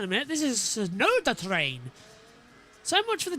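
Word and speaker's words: Tsunoda: It's the Sonoda train, which still does work as TT because it's soda, so Sonoda. The T is silent.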